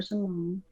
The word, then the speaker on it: Cimone: You just gotta search Simone, and the Simone is spelled Cimone. C I'll I be M O N E.